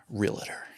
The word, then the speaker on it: realtor: realtor then right right realtor yes um two syllables yes realtor yep that drives